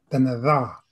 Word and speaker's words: Dene Tha': Before we get moving, here's what I always do when people don't pronounce Dene Ta properly. Put that tip of your tongue on your teeth, right? And go, right?